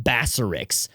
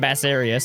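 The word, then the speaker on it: Basarios: Freedom, we called him Bassarix. I have no idea where we got a C or a K in that, no clue at all, but we called him Bassarix instead of Bassarios.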